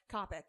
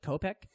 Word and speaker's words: Coppock: Heck Is that how you say it, Coppock? Coppock. I always had a panic as I was saying it. That might be like Kopek. And I've been wrong for fucking 5 years, you know?